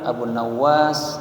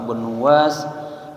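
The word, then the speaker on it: أبو نواس: Qala syair Abu Nawwas atau Abu Nuwas bidomin nun. Nah, nunnya dikasih domah.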